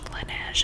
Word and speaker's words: Laneige: birthday but this is the laneige lineage is how you say it laneige lip glowy balm